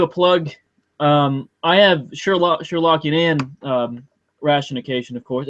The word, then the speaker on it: ratiocination: I have Sherlockian rationication, of course. Is that the right pronunciation? I've never heard it pronounced, but to me, I call it ratiocination.